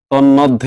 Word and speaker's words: তন্মধ্যে: ন এর সাথে লাগাই তন তন্মধ্যে কিন্তু বলি না এটা কি বলি আমরা বলি তন মধ্যে তন মধ্যে তবে যদি কোন যুক্ত